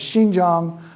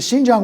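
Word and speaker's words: Xinjiang: do you pronounce it thanks to Xi Jinping most people can get that X right now but the Shin Jang won t was something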